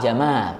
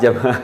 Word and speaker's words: Jamal: Pak Jamal. Itu seharusnya bacanya panjang. Jadi kalau Jamal. nah, seharusnya seperti itu. Jadi kalau kita hanya ngomong, "Ya, Pak Jamal." Kalau Iya. didengar orang-orang Arab, wah itu dikira unta nanti.